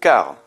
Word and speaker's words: car: Car. Le C par défaut avec un A se prononce durement, donc que, ça fait C et A, K. Donc on est bien dans le cas voulu, car il est agacé.